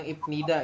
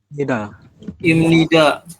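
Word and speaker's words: 입니다: Tadi banyak yang bilang Ibnida. Ya. Ini masih belum ingat ya kalau Ibnida. Dibacanya adalah Imnida. Iya, seperti ini.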